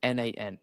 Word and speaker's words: n8n: You say it like n8n, and it's a workflow automation tool.